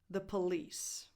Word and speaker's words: The Police: Number 4, the Police. The Police. So first of all, you have the, not de, not de, the.